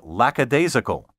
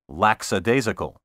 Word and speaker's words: lackadaisical: nothing shiftless slothful and lackadaisical which is often mispronounced laxadaisical there is no lacks in lackadaisical more challenging synonyms of